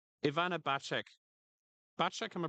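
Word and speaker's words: Bacik: Bacek, am I pronouncing it correct?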